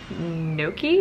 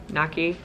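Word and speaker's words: gnocchi: actually just found the Trader Joe's cauliflower no key is that how you pronounce it no key naki what have you but it is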